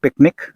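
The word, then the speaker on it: PQNK: जिसको हम बोलते हैं पी क्यू एन के प के उसको प्रोनाउंस करते हैं पिकनिक यह पाकिस्तान के आसिफ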